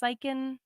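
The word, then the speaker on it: Siken: and also Richard zyken I think it's pronounced psychen Sulkin s-i-k-e-n um just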